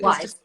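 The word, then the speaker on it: Wyse: you've started to working is it wise London is that how it's pronounced right yeah just wise yeah so I've done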